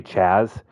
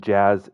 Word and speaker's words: Jazz: I always say Chaz because I just mix Jazz and Chisum together. So I'm trying to correct myself cuz I don't like mispronouncing names, but we got a